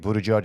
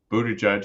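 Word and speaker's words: Buttigieg: did criticize uh uh Pete Buddha judge I think is how how he likes to pronounce his name yes for coming to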